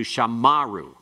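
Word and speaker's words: שָׁמָרוּ: But if that occurs in the middle of the verse, where you have the pathach, it will change it to shamaru. Shamaru.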